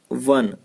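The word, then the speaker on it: one: यदि वो लिखा रहे लेकिन वन, तो इसका जो प्रोनाउंसिएशन है वो हो जा रहा है, क्या हो जा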